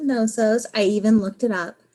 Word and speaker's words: Knossos: The K is silent. It's Palace of Knossos.